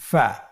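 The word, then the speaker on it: فِ: প্রিয় শিক্ষার্থী বন্ধুরা, আজকের দার্সের পরবর্তী হরফটির নাম হলো ফা। ফা জবর ফা, ফা জের ফি, ফা ফি।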